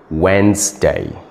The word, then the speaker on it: Wednesday: w w no you are wrong the correct pronunciation is Wednesday Wednesday can you pronounce this word correctly